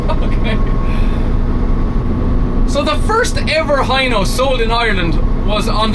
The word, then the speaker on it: Hino: of them of course i should be pronouncing it hino but everybody in ireland says hi no so he know i